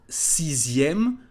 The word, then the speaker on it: sixième: And you remember the pronunciation of sixième. The letter X is said like a letter Z.